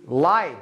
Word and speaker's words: light: لايت لايت الضوء ومضيء. لايت جي اتش لا ينطق.